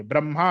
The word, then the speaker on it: ब्रह्मा: ब्रह्मा अलग है। वह ब्रह्मा विष्णु महेश वो वहां पे जो ब्रह्मा है वो उसका प्रोनाउंसिएशन और स्पेलिंग अलग है वो है ब्रह्मा।